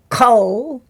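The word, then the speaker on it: כל: And I just wanted to emphasize that we say here generally kol. And that's using the kamatz rule that says that the kamatz becomes a short o sound in a closed syllable, meaning there's no vowel after the next letter.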